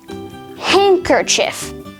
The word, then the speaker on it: handkerchief: have a silent d handkerchief handsome sandwich and wednesday in all four of these words the d sound is completely absent because the d is silent however just like the